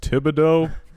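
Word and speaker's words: Thibodeaux: like it's just Thibodeau but he says the Ox bread the bidet ox pronounced tibideaux I like I like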